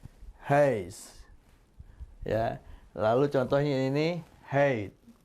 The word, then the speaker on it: huis: Ya, rumah itu tidak huis tapi heis. Heis. Mulutnya bulat tapi yang keluar seperti A. Heis.